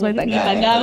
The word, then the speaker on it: Nipagawa: Nipagawa. So am I saying it right? Yes, Nipagawa. You're getting it right.